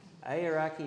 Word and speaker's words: Aoraki: Aoraki National Park, New Zealand.